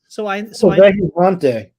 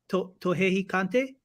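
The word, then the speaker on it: Vejigante: Vejijante. Tohehikante? Nope, Vejijante, and it's spelled Vejijante.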